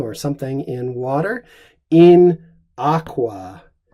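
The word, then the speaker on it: aquā: something in water, in aqua. This is a long A because this is our ablative singular of aqua, a first declension noun.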